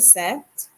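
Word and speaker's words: sept: at 37 ton to set remember not to pronounce the p for set 38 now turn to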